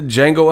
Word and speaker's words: Django: came out with the django unchained he ripping through the shackles bro they really came with the jingle and chain joint the d is silent man stop stop bro